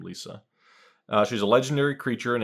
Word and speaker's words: Liesa: I pronounce her name Liesa.